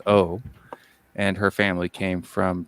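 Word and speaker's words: 오: She's her family name in Korean is O, so the Chinese character for Wu in Korean is O. It's pronounced O.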